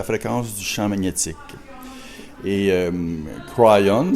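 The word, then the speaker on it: Kryon: Et Crayon, si on veut le prononcer à l'anglaise, il nous dit qu'il était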